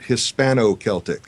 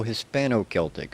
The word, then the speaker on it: Hispano-Celtic: Mandarin Hispanic Celtic. Well, yeah, you have to pronounce it Hispano-Celtic. Oh, Hispano-Celtic. Okay. I don't know why. You just have to say it that way.